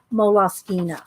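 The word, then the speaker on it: Moleskine: time people are going how do you say mall skins I'm all skin mole sky well I went to the moles mole off skeena site and that's how they say mola skeena so I don't care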